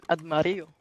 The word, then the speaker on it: armadillo: So in Spanish, you would say it Armadillo. Armadillo. There's two L's pronounced as a G.